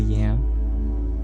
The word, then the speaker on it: Yam: Dr yam well my first name is and if you take off the L it is spelled with a Y so it is spell y a m self-care is so important